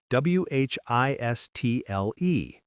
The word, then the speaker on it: whistle: Wh I S T L E. Whistle. See the pattern? When T comes between S and another consonant, it often disappears.